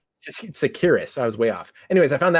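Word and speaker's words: Tsakiris: Is it Tissacharis? Yeah, Alex Sarkiris. Sakiris.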